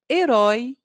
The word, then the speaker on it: herói: letra M assim acontece com as palavras herói e helicóptero todas começam com a letra h mas pronunciamos apenas a vogal e no início delas Observe herói pessoa que